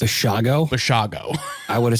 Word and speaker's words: Basiago: and Project Pegasus participant Andrew D Bago apparently pronouncing his name all wrong I was saying basiago last episode but apparently it's bago bago I would have said it wrong too